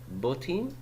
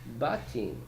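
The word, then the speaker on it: בתים: But did I pronounce it botim? I did not. I pronounced it batim. Batim, because that's how you pronounce it.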